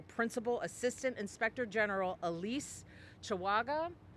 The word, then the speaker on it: Chawaga: Assistant Inspector General Elise Chawaga, C-H-A-W-A-G-A. Did I pronounce that correctly? Yes.